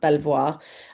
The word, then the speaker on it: Belvoir: So, although it's pronounced technically speaking, it should be pronounced Belvoir um for the last however many uh you know, however many centuries, I'm afraid it's been pronounced Beaver, which can have several meanings in several different languages.